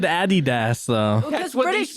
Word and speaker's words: Adidas: And if you said Adidas, Wait, how did you know he said Adidas though? Because what they British people say. say, and German. Really? The Yeah. proper pronunciation of it is Adidas.